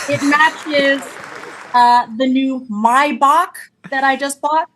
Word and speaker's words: Maybach: matches uh the new mybach that I just bought. Did you know that's how you pronounce my Maybach? It's the my my right is outside